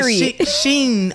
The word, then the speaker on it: Shein: I forgot about Shein. I just learned how to pronounce that.